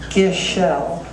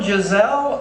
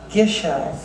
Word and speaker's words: Gishelle: many people do because it's pronounced Gishelle. Anyway, he came in, he says, well, Giselle, I said, doctor, it's Gishelle.